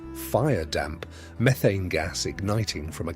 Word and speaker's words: firedamp: Explosions of firedamp, pronounced firedamp, methane gas igniting from a candle or a spark, killed dozens, sometimes hundreds, at a time.